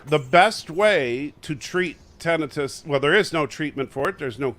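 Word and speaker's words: tinnitus: that how it's pronounced it's actually pronounced tenus yes it's not tenius I have that to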